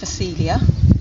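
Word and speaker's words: Phacelia: flowers it's actually a green manure it's called filia that's spelled with a pH at the beginning if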